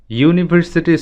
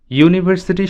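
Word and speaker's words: university: Similarly যখন আমরা বলছি ইউনিভার্সিটি স্টুডেন্ট, তখন এর পূর্বে এ ব্যবহৃত হবে, কারণ ইউনিভার্সিটি শব্দটি উচ্চারণ করতে ওয়াই ইউ এই সাউন্ডটি প্রাধান্য পাচ্ছে।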